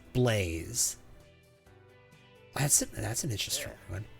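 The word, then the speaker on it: Blaise: Silus Blaze and Cecilia Blaze, but spelled B L A I S E, but pronounced Blaze.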